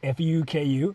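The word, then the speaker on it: 服: pronounced because it's actually pronounced Fu KU like fucku so American tourists come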